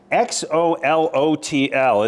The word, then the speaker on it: Xolotl: Which is, by the way, good luck pronouncing this. Right. It is Xolotl.